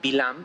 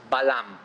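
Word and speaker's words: Balaam: hablar con Balam o muchas veces se lo pronuncia se lo pronuncia bilán pero el nombre del de vilam en arameo el nombre que él utilizaba es Balam después vamos a saber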